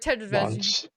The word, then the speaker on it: Taravangian: Tavernian? Oh, Taravagian. I love that everyone's like Taravangian. King Taravangian. It's like, it's too many syllables for my brain.